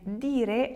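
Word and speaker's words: dì: Di la verità, but also di has a little apostrophe. Di la verità. You have to also pronounce it. Di. You have a little accent there.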